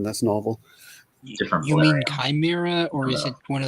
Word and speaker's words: Chimera: Well, it's Chimera with a sh sound, right? I at the very least pronounce her name like that because it sounds more feminine that way. But I've heard it both ways. I remember they put it in Batman Beyond. They pronounced Chimera. Yeah, I look it up. The apparently the Greek word starts with the X, which means that it would be chimera with the hard ch.